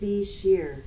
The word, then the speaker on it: Bichir: Looks like it says Bitcher, but... The Bitcher. Pronunciation. His character... Play it. Damien Bichir.